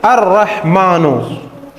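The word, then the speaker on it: الرحمن: यह क्या हो गया अ कायदा है कि जब रा मुसद हो और लाम आए उससे पहले अर रहमान में तो कायदा है कि अर रहमान में लाम क्या है साइलेंट है ये क्या है बच्चों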